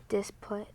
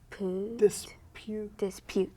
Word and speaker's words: dispute: disput. Now, that's very close. That's what it would be if there was no silent E. What's that silent E gonna do? Dispute.